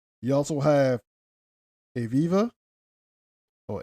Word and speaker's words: Aviva: You also have Aviva. Or Aviva.